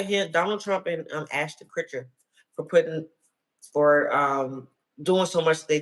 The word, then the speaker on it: Kutcher: Why I say Critcher? Kutcher.